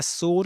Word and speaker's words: sword: Sword. Yeah, that's sword. It's not sword in this accent. Not you don't pronounce the r sound, but it's not sw in w in any in any in any English accent as far as I know.